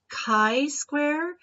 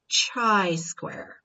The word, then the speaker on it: chi-square: exponent of 2 and it is pronounced chi-square and not tri square all right now some